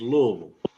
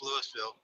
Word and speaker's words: Louisville: at you're right d he said it wrong again it's Louisville yeah it's Louisville they don't like trucks